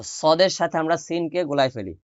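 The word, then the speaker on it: صاد: সদে সদে সদে সদে ঠোট গোল করে সদে সদে সদে সদে সদে সদ সদ সদ সদ সদ সদ এটা সিন আর সদ ওটার মধ্যে পার্থক্য বুঝে নিবেন এ হল পার্থক্য সিন পাতলা করে সদ মোটা করে সা নরম করে সিন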